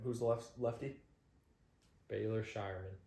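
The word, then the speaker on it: Scheierman: Baylor Shireman. Shireman.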